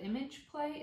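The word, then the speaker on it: ImgPlay: I'm using an iPhone and I'm using the app called Image Play. It's spelled I-M-G-P-L-A-Y, but it's just a free stop animation app.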